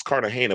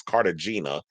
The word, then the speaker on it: Cartagena: It's Cartagena, but he says Cartagena.